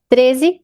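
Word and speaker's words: thirteen: Então, quando a gente entra nos números, nas dezenas, a primeira sílaba é a tônica. Quando a gente tá aqui nos números do 13 ao 19, que eu gosto de falar que eles são os adolescentes, né, por causa do teen, quer dizer adolescente em inglês, então o teen é mais forte, tá?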